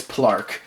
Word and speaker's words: PL4RK: PL4RK. That's how I used to say his name, but it's Plark.